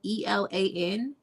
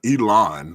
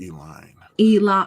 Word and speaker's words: Elan: That's Chateau, and Elan is spelled ELAN. And it's this one that I'm drinking is called summer wine. It's not Elon, but Elan. Elon. It is. It's you say Elan.